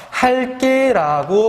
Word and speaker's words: 할게: 근데 이 할게 같은 경우에 리을 개거든? 하다에 지금 리을 개가 붙은 거야. 지금 여러분들이 이거 발음해보면 어떻게 발음되냐면 할게라고 발음이 됩니다.